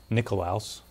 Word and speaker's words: Nicolaus: were founded by count nicholas von zinzendorf or his uh i guess the proper pronunciation would be nicolaus right russ would that